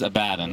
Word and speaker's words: Abaddon: The correct pronunciation is Abaddon.